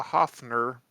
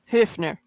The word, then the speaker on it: Hefner: an invitation to the Hoffner or from Hoffner I'm sorry Hefner Hefner Hefner yeah the English is pronounced Hefner but yeah how Jo